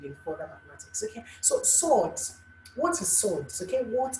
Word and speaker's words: surds: Now, the topic for today is swords. Swords. Actually, it rhymes with sword.